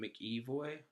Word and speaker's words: McEvoy: And Sarah is played by Anne-Marie McEvoy. That's how you pronounce her name.